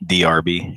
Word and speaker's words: D'Arby: Well, you got to think about like Terrence Trent D'Arby. DRB, yeah. That's how you say it, DRB.